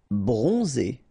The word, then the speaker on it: bronzé: Bronzé. So O-N, on, and then Z. It's really pronounced like Z.